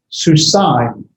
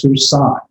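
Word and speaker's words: סוּסַיִם: just like in Greek, the diphthong, the two vowels are pronounced as one. So this is going to be susain. The A and the I sound as susain.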